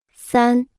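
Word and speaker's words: 三: repita en voz alta San San San San San San San se pronuncia con el primer tono cuatro escuche y repita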